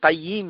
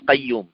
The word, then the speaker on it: কাইয়িম: এই বইটা লিখেছেন ইবনুল কাইয়ুম আল জাউজিয়া ইবনুল কাইয়ুম না আপনাদের অনেকে আবার ভুল উচ্চারণ করেন বলে ইবনুল কাইয়ুম ইবনুল কাইয়ুম না কাইয়িম ইবনেল কাইয়িম আল জাউজিয়া রাহিমাহুল্লাহ